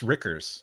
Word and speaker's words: Reichers: It's Rickers. It rhymes Rickers. With Snickers.